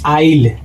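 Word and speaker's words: isle: तो यहां पर भी एस दोस्तों हो जाएगा साइलेंट। तो इसको पढ़ते वक्त दोस्तों पढ़ेंगे आईल।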